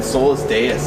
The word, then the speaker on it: Solus Deus: We're at NAMM right now, or outside NAMM, with the guys in Solus Deus. How's it going, guys? Good. What's up, man? Good. I pronounced that right?